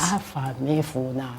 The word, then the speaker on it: Afamefuna: Afamefuna. Afamefuna. May my name never be forgotten. So that's what it means. That's what it means. Afamefuna.